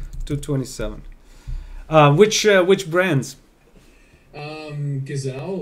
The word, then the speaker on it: Gazelle: Gazelle or Gazelle, if you pronounce it in Dutch.